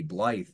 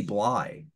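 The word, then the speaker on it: Blyth: known but it's Randy Blye oh sorry Randy yeah he wasn't mad he was just like ah everybody he's like everybody gets that wrong um he's like yeah the th is silent like oh that's weird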